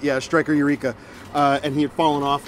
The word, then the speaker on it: Striker Eureka: Yeah, Striker Eureka.